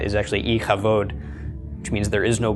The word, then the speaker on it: Ichabod: it could be all right like the name hick Abad is actually iike vote which means there is no glory that's the